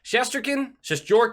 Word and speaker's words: Shesterkin: Shesterkin is how you say the name, having a good season.